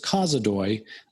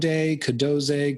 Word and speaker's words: Kozodoy: covered the name part everyone pronounces my last name incorrectly uh it's causadoy i get code cadoze cadozi uh i've had i've had people say it backwards i don't really i